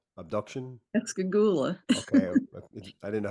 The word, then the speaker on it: Pascagoula: I know, Irene, you've written a recent book on the subject, Pascagoula abduction. Pascagoula. Okay, I didn't know how to pronounce it, but Ghoul.